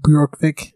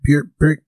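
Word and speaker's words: Bjørkvik: Is it Bjorkvik? BJ, I think, is Bjork. I also don't speak Swedish, so... That's hard. That's a tough one. I'm going with Bjorkvik.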